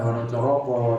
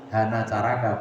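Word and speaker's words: hanacaraka: tulisan hana caraka itu kalau dulu zaman Wali Songo bukan hon coroko Tapi hanaacaraka bacanya Ya Seo ya Sega du itu Sega kalau pakai o hon coroko itu mulai Sultan Agung mulai setelah Wali Songo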